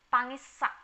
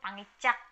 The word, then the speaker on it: pangisak: Jadi N plus S sama dengan SS. Contohnya pangisak, Di beberapa daerah bacanya justru pangicak malah.